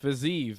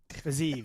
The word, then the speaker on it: Fiziev: He doesn't pronounce it Fiziev. He pronounces another way. Fiziev. So Fiziev.